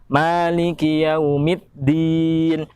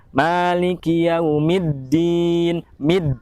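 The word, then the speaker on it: مَالِكِ يَوْمِ الدِّينِ: keempat meninggi awmii Din banyak orang yang membaca huruf Dal pada yaumiddin itu seolah membaca seperti membaca ada huruf tagnya seperti gini Maliki yaumid diin meet Din padahal cara pengucapannya tidak demikian ya Malikiyaumiddin biddin karena bertasydid maka harus lebih kuat Malikiyaumiddin Midi Nun pada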